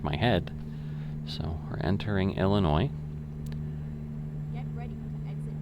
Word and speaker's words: Illinois: And, you know, you could almost say it's kind of got like a French ending, like, well, like Francois or stuff like that.